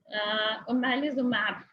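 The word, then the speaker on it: Omalizumab: एक जो सर्टिफाइड या अप्रूव्ड ट्रीटमेंट है वो ओमेलिसिन, हाँ मुझे इसका प्रोनाउंसिएशन भूल गया, व्हाट्सएवर, मुझे एक्चुअली नहीं याद आ रहा, मैं बिल्कुल नहीं बोलूँगी, मुझे याद है, मुझे इसका प्रोनाउंसिएशन भूल गया। सो इट्स ओमेलिजुमैब।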